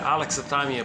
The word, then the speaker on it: alexithymia: Oh yeah, alexithymia, pronounced Alex, thigh, me, yeah.